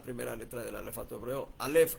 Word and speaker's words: alef: Alef. Así suena, así se debe pronunciar o por lo menos así más o menos.